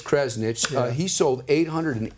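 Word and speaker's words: Krzanich: what I love to see the CEO mica pronounce his last name correctly Brian it's Kresnik he sold eight hundred and eighty nine thousand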